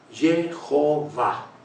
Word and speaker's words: Jehová: sí quién lo dice lo dice un rabino que ha estudiado mucho y tiene una explicación lógica gramaticalmente correcta yji jové ha Jehová Jehová Jehová es correcto y así está en